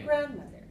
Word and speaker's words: grandmother: So I want you to go high, low, low.